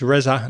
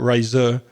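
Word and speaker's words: Reza: Different pronunciation, isn't it? It's Resza, not Razor. Your name is Resza.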